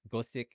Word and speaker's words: Gosick: provide for you is that the name Gosick is a play on the word Gothic, but like and if you would pronounce the word Gothic Oh, in sort of Japanese, it's Gosick, Gothic, yeah.